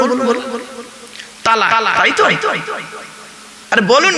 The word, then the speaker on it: তালাক: আছি এখানে বউ এনে দেবো চিন্তা নেই হ্যালো তালাক বলেন তাইতো শব্দটা তালাক বলবেন না শব্দটা তালাক নয় এইটাই তো ভুল